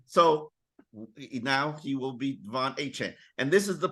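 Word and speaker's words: De'Von: Yeah, and for those not aware, when he first came into the NFL, his first name was Devon, and then he told us no, it's actually Devon, and it's DE''V''ON.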